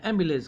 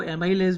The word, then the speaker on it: amylase: ये एक एंजाइम स्रावित होते हैं जिसको टाइलिन या एमिलेज कहते हैं। कोई कोई उसको एमिलेज को एमाइलेज भी कहते हैं, AMYLASE।